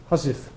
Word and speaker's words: housewife: What about housewife? Everybody says housewife. But my grandfather said husif.